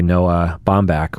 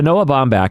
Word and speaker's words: Noah Baumbach: directed by Noah Baumbach, which is the same person who wrote and directed Marriage Story.